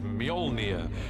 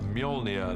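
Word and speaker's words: Mjölnir: is to work out how to pronounce it which is molnia uh in our movie at the moment until somebody corrects me I'm sure they will uh molia the hammer this awesome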